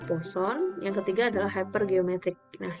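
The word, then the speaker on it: Poisson: yang dipelajari Disini yang pertama binomial yang kedua dibacanya posone yang ketiga adalah hipergeometrik nah yang kita pelajari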